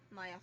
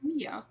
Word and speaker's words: Mia: we have the victim, Maya Fey, that. which is our boss It's slash Maya. mentor. Isn't it pronounced Mia? Mia. Maya is her sister.